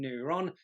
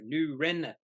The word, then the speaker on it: Neuren: apparently for some reason I've been saying neuron probably because I haven't been thinking about saying or pronouncing it right so new Ren Pharmaceuticals so this is their